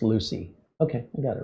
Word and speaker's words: Lucie: Pronunciation of the Florida county and city are pronounced Lucy. Okay, I got it right. Lucci would be the sound